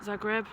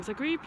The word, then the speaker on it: Zagreb: Bucharest, Zagreb, Trieste, I pronounced that wrong, Zagreb, Trieste, Milan, oh God.